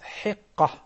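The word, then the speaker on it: hiqqa: started the third then the right pronunciation of the third one is heka three years old and starting already the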